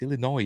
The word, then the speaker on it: Illinois: always say Illinois it's Illinois is it you don't pronounce the S but I always do accidentally right so they're in